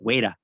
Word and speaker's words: Weta: from new zealand so they all say it wait uh wait uh like that so that's how i pronounce it in my head is the new zealand way yeah yeah well i